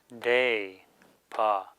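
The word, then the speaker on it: དད་པ: So here we have da, day, pa, faith. So the inherent ah becoming a, and the da not being pronounced.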